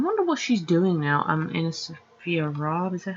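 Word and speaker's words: AnnaSophia Robb: Anna Sophia Robb. Is that how you say her name? Yeah, Anna Sophia Robb.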